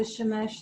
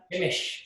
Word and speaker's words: Shemesh: yeah, it's the Shemesh Tzedakah. Hey, I said that. I said it wrong, didn't I? Got it wrong. That's what threw me off. Yeah, Shemish. slight spelling issue here. Shemesh. Shemesh. Got it.